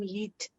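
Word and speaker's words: Yiğit: Is that how you say his name? Yeet.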